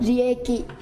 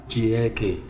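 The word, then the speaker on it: 利益: Rieki. Rieki. Đúng không? Đọc đúng không? Đúng rồi. Vậy là anh đọc đúng cái chữ lợi nhuận. Rieki.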